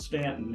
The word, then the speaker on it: Staunton: it was like well Staunton and we had to learn that it was it was yeah that that you does not eating letter it's a long a okay so but it's definitely pronounced Stanton and uh Savannah's a